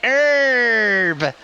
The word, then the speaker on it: Herb: but have you heard herb yeah you gotta elongate it herb okay thank you most